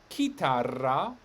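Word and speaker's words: chitarra: in between two vowels this word for guitar is kitara why is it a k because of the h now we have c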